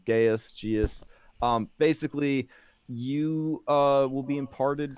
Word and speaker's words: Geas: So the first one is a Geas spell, which is a very powerful enchantment. It basically, I think I pronounced it wrong. Geas.